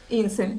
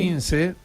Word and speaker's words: İnce: Hay un candidato que se retiró a último momento, Muharrem İnce, no sé si lo pronuncié bien. İnce, sí. İnce.